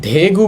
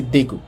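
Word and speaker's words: 대구: দেখেন এটা কিন্তু ধেগু বলি না, বলছি দেগু।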